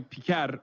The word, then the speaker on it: Piker: Yeah, it's not even like a Turkish sounding last name. Yeah. It's normally Piker, but still, like, it's pretty funny that he's going out of his way to deliberately mispronounce it, which I love.